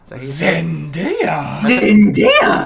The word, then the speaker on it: Zendaya: at one time he was like bad-mouthing uh zendaya zendaya is how you say the name zendaya yeah okay well he was just like you